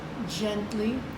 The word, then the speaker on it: gently: You're going to find the word gently, soft G.